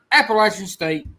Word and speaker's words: Appalachian: It's Appalachian, not Appalachia. Appalachian.